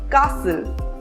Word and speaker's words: castle: It is not exactly a rule, but there are some words in which the letter T is silent. For example, often, fasten, listen, Christmas, castle.